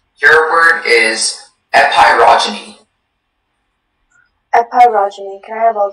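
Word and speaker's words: epeirogeny: Epirogyny.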